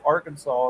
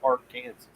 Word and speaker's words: Arkansas: of a sudden it go arkansas instead of arc kansas doesn't make any sense it's felt the same with an ar yeah because you go to the our kansas river in kansas and it's pronounced our kansas river you know i know i